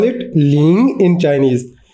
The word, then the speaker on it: 零: Let's call it ling in Chinese. Ling rhymes with ring.